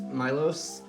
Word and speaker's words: Milos: So, I am here today with my friend and fellow artist, Milos.